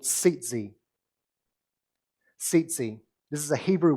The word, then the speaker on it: tzitzit: Now, tzitzi, as it's pronounced, it looks like tzitzit, but it's tzitzi, actually first appears in